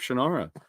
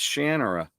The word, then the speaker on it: Shannara: I always thought it was Sword of Shannara. Then I saw an interview with the writer Terry Brooks. It's Shannara. Decades I've been saying Shannara.